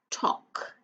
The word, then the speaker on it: talk: So it's not talk, it's talk. T-O-K, talk.